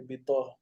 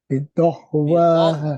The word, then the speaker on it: بطغواها: It's not voiced. It's ta, bidah. Let me see. بطغواها بطغواها بطغواها بطغواها Is the بطغواها difference between a d and a t, right?